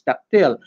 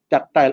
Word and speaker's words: tactile: Ang iba kasi, ang basa nila, ang pronunciation nila is tactile. Ang iba naman is tactile, accepted naman.